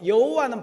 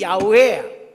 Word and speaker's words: 야훼: 여호와는 발음이 여러분 잘못된 거고 야훼, 우리 야훼 찬송.